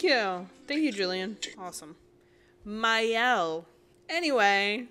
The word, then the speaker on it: Mielle: Too many people say it as Mielle, right? Mielle. But the correct pronunciation is actually as Mielle. As was Mielle. Stated by the brand itself.